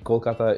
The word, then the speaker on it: Kolkata: And the name especially, Kolkata, is the Bengali pronunciation of the old city of Calcutta, the old capital, the old British capital of India.